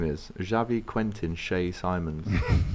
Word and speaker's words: Simons: there isn't it xqs I'm sure that pronunciation is seamons you know not s I'm pretty sure at the Euros it was Javy Simons that's probably the what